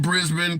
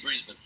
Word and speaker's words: Brisbane: with all those but most Americans say Brisbane which is not how you say it anyway does matter so